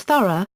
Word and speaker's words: Thoreau: aunt each wrote that Thoreau is pronounced like the word thorough, pronounced thuro/throu/ in general American, but more precisely Thoreau/thou, rou/ in 19th century New England. Edward Waldo Emerson confirmed the latter pronunciation, writing that the name should be pronounced Thoreau, with the H sounded and stress on the first syllable.